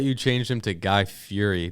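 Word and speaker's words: Fieri: the club and he he's dressed like guy Fury oh it's like gu Fury and he's he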